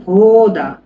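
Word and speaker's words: вода: আমরা পরবর্তী শব্দে যাচ্ছি, পানি, পানি, পানিকে বলা হয় ভোদা, ভোদা মানে পানি, ঠিক আছে, এটা অদ্ভুত নাম। দেখেন এটা বিটা হচ্ছে ভি উচ্চারণ হয় সার্বিয়ানে, এটা ও, এটা ডি,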